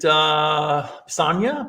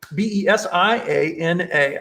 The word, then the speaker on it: Besiana: How do you say this beautiful name? Is it Besania? Besania? Besiana.